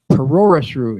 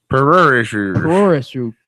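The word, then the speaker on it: プロレス: I'm gonna try and pronounce it right now, and I'll fuck it up. It is Puroresu is how it is. Puroresu.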